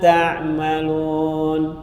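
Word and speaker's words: تعملون: Wa mallahu bighafilin amma ta'malun. Boleh juga baca wa mallahu bighafilin amma ya'malun. Huruf ya, tak jadi ya, artinya tidak merubah, memang bacanya beda.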